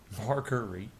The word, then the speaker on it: Marguerite: Marguerite? That's how it's pronounced.